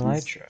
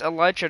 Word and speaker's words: elytra: It's elytra, not elytra.